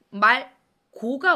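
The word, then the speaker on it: 맑고: 리을로 발음해주면 됩니다. 자, 예시를 한번 볼게요. 날씨가 맑다 보세요. 맑다. 그런데 말 고가 왔어요.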